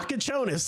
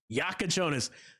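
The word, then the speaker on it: Jakučionis: Have you been able to pronounce that kid's name yet? Is it like Kasparis Yakuchonis or something like that? Yeah, Yakuchonis.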